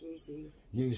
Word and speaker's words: yuzu: Yuzu y bloody thing I think it's pronounced Yu Yu yeah I might stand corrected on this maybe I'm the one who's got it wrong but I think that's how you pronounce it I do get yeah